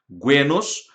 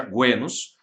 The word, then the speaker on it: genos: É o momento no qual as comunidades gentílicas, os guenos, se escreve genos, mas pronuncia guenos, vão se unindo através